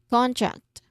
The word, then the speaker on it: contract: Both words are not syllabicating, but putting stress on the first syllables, no, both words, because this is not the same word. It's quite different, okay? Concrete, contract.